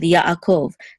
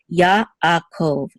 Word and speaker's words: Yaakov: We have the same thing here with Yaakov. This ayin, we say it's a silent letter, but if it follows a letter that has its own vowel, we're going to separate the sounds also here. So Yaakov, Yaakov.